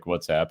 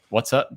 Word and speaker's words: WhatsApp: need encrypted apps like WhatsApp and how do you say it? What's up? Some people say what's up. I'm like, it's not. I say WhatsApp.